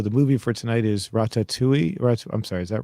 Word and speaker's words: Ratatouille: So the movie for tonight is Ratatouille. I'm sorry, is that right? Yeah, Ratatouille. Ratatouille. Ratatouille. Okay, they were pronouncing it.